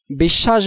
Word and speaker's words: বিশ্বাস: বিশ্বাস বানানে তালব্যয়ের সাথে বফলা থাকায় তালব্য ২ বার উচ্চারিত হয়েছে।